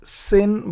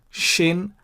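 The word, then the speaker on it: שׁ: It is not Sin, but Shin. Remember Shiboleth versus Siboleth. You pronounce Shiboleth if the dot is on the right. You pronounce Siboleth if the dot is on the left.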